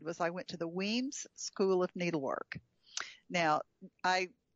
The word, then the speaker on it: Wemyss: But I met several of so when you go to I was pronouncing it Wemyss, but it's Wemyss. The Y is not pronounced.